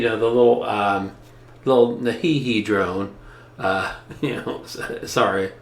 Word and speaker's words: NEHEME: with the you know the little um little nahihi drone uh you know sorry that's the correct pronunciation and before we um we get outside